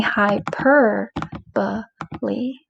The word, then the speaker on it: hyperbole: it there okay hyperbole don't say hyperbole the more you say that word out loud hyperbole the more likely you are to forget the correct pronunciation so practice saying hyper but Lee there are bunch of words in language arts that come from Greek and we pronounce the e on the end like simile apostrophe hyperbole is one so hyperbole is when